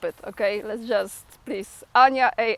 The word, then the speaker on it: Ania: just want to say my name is Ana a n i a not J not y not something else and it's not Anita it's Ana so when you look